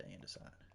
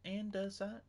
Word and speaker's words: andesite: I need and where's my and give me the andeside. Am I saying that right? Andesite. And you know what? That's how it's spelled. That's how it's going to be said.